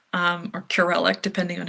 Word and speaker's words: Kurelek: closet, and it was a painting by William Kurelek um or Kurelek, depending on how you'd like to pronounce that.